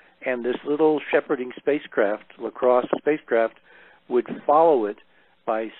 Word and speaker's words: LCROSS: out of NASA Ames called La Crosse. and that was an acronym which stands for something, and I don't remember what it stands for at the moment, but it's spelled LCROSS, and it was a